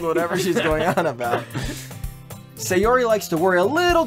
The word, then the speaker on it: Sayori: By the way, my name is fucking pronounced Sayori, not Sayori.